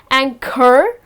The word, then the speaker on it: anchor: again if you see the h comes in the middle of the word however it goes silent when you pronounce the words just gonna be she is an excellent anchor okay it's not anchor but it's just anchor right and then the last